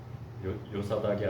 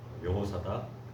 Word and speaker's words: 여호사닥: 학계스가랴에서는 요사닥의 아들 예수아가 아니라 여호사닥의 아들 여호수아로 표현되고 있습니다. 같은 이름이에요. 그 축약해서 부르면 요사닥 그리고 예수아라고 할 수 있는 것이고요. 제대로 발음하면 여호사닥, 여호수아라고 할 수 있습니다.